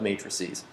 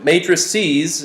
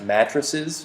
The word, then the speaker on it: matrices: yeah yeah uh so matrices is plural sometimes i intentionally mispronounce it as mattresses just because i find that amusing but don't go believing